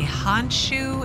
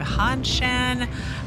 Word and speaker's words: Hanshan: a pass to leave he keeps wanting to say honshu instead of han shen i i apologize if